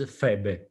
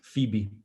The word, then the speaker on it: Phoebe: Syria, there was, but in Italy, Phoebe is Febe. Oh, was it? Maybe. Yeah. Yes. And so since my wife is Czech, in Czech Republic, they pronounce it right, Phoebe. And Ah. I always told her, it's not Phoebe, it's Phoebe. They are different. Because Chandler is Chandler, all the other are right.